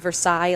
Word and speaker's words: Versailles: and Nail Armory in Versailles, Missouri, or Versailles, as the Missourians call it. Yeah, no, seriously, it's spelled Versailles like in France, but it's Versailles.